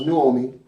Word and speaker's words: Naomi: And it reads, and Naomi, or pronounced Nuomi, her mother-in-law said to